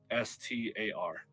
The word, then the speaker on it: Alistar: Oh, it's spelled Alistar, so Alistar.